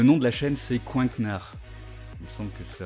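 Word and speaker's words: Coinknard: de la chaîne c'est Coinknar. Il me semble que c'est à peu près comme ça que ça se prononce. Ouais, c'est ça, Coink. C-O-I-N-K et N-A-R-D, comme un canard, mais avec un coink.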